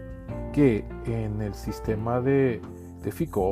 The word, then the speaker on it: FICO: En los primeros 2 episodios hemos hablado de un sistema que se llama, bueno, yo lo pronuncio más bien en español, el FICO, en español sería, en inglés sería FICO, ¿verdad?